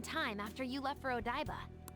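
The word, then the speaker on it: Odaiba: at the same time after you left for odba OD daa that's how you pronounce that what was that wait you're what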